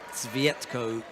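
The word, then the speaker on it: Cvjetko: Svietko, I think, is the way to pronounce that. It's just slightly quiet with the CV. And it's almost as though you don't hear the J.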